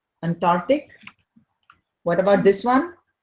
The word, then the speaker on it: Antarctic: mispronounced affidavit affidavit affidavit Antarctic just like Arctic Antarctic Antarctic what about this one